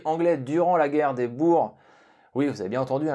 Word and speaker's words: Boers: Certains officiers anglais durant la guerre des Boers, oui vous avez bien entendu, j'ai prononcé comme il le faut, bref, certains officiers l'ont utilisé durant ce conflit en tant qu'arme de dotation privée.